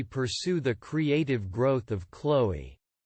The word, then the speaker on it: Chloé: How do you pronounce this brand? Chaloye. No, it's wrong. The right pronunciation is Chloé. Chloé.